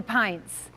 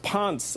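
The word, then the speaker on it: Pence: I cannot wait to see her debate our current vice president, Mika Pince. Or is it Paints? It's pronounced Ponce, I believe.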